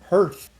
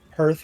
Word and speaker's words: hearth: Hurtth.